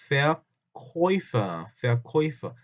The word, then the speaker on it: Verkäufer: 근데 옴라투와 우도 발음은 오이라고 읽습니다. 오이. 그래서 Deutsch 할 때도 그랬고 여기서처럼 Verkäufer.